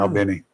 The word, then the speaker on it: Albany: they pronounce it. Is Oh. Albany.